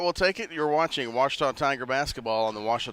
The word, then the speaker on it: Ouachita: searching for Baptist University back in Texas everybody pronounces it witch but really it's was was was how would you pronounce it was